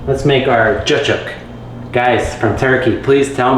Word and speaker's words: cacık: Is it cacık? Because if I was reading it, I would say cacik or cacık. But I heard it on a video, somebody said cacık.